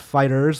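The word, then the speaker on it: FighterZ: Kebabs mentions Fighter Z is pronounced fighters, like in the 90s.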